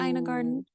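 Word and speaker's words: Ina Garten: Do you like Ina Garden?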